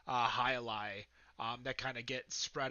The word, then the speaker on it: Jai Alai: What are some misnomers, misinformation that you feel people might have about Cigar City or beers like Jai Alai that kind of get spread out into the ether of the beer world?